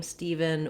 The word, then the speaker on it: Steven: people also spell the name steven with the letters e-v-e-n just like the word even and that's a good way to think of it because that more closely matches the pronunciation if you can pronounce even you can pronounce steven so the first syllable is what's stress so the steve syllable is stressed ph in some letters